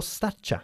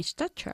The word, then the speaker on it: stature: Are you proud of your stature? Yes, I'm proud of my stature. La T-U-R-E al final de una palabra siempre se pronuncia Ya. cha.